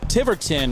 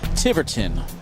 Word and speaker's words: Tiverton: Welcome back in to Tiverton, Rhode Island. I've confirmed from the locals here it's pronounced Tiverton, not Tiverton.